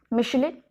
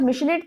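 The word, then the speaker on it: Michelet: तो अगर आपके ऑब्जेक्टिव क्वेश्चंस आते हैं तो यू मस्ट रिमेंबर कि ये हैं आपके जॉर्ज मिशेलेट, टी साइलेंट रहता है प्रोनाउंसिएशन में, और दूसरे हैं आपके फ्रेडरिच एंजल्स।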